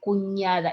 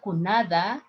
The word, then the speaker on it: cuñada: Yo soy cuñada. It's not cunada. It's cuñada de William.